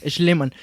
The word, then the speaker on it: Schliemann: Es Schliemann. Puta madre. Schliemann. De hecho, lo tuve que escribir en pronunciación mexa, güey.